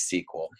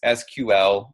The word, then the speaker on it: SQL: talk about what is SQL. And you're going to hear it pronounced a couple different ways, SQL or SQL.